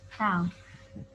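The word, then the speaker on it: τ: Momen gaya atau istilah lainnya torsi, lambangnya itu seperti T atau tau ya. Jadi dibacanya itu tau.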